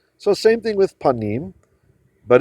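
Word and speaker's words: פנים: So this is from the word panim, which is how you say face.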